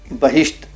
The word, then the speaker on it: بہشت: اور ایسے ہی آگے لکھتے ہیں, جیسے فرشتہ, فریب, بہشت کہ فارسی میں یہ لفظ بکسر حرف اول ہیں, مگر اردو بول چال میں بفتح حرف اول ہیں.